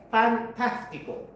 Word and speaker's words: fantástico: Accent. Fantástico. Okay? Accent on the second A.